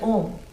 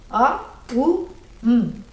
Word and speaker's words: Om: This is what is, makes up the word Om. A, U, M. But you're not supposed to say like that. A, U, no.